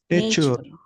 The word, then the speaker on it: nature: Nature. Nature. Nature. Nature. Nature. Nature. Nature. Nature. Ya. Pokoknya kalau ada t u r e bacanya c kayak gambar.